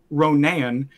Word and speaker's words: Ronan: I had Namor, Ronan. I pronounce it like that because there's Ronin and Yeah, Ronan.